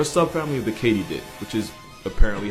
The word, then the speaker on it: katydid: actually crickets they're a sub family of the katydid which is apparently how you pronounce it not only was i wrong but